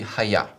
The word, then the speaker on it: hayah: In Hebrew, the word verb would be haya.